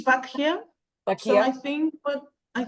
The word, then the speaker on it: Bakkheia: yeah it's B bakak is it vakia or vakia in Greek it's vakia so I think but